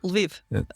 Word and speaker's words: Lviv: Yes, Ukraine, but you're in how is it pronounced? Kiev? No, Lviv. Actually, Lviv. Lviv.